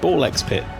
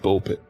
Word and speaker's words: Ball x Pit: You don't pronounce the X; it's just Ball Pit.